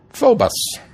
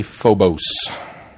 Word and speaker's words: Phobos: on to the reviews phobus which I keep want to say Phobos and it took me listening to it again to go oh no I've been pronouncing that wrong it is the Greek